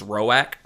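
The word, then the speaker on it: Roäc: His name is Rorowak. I looked up the pronunciation.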